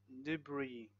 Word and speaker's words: debris: Silent S in words like island, island, debris, and aisle, aisle.